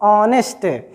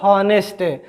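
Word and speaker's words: honest: ऑनेस्ट। लेकिन आप इसको कभी मत कहिएगा हॉनेस्ट। तो इसका भी उच्चारण क्या हुआ? आ, न कि हा, ठीक।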